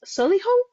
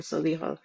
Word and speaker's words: Solihull: Nuzhat is in Essex, and Hazina, you're in Solihull? Is that how you say it? Yes, Solihull?